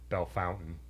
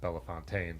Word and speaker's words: Bellefontaine: So we went up through all the way up to Belle Fountain. I don't think it has a French pronunciation in Ohio. It's not Bellefontaine like we were saying.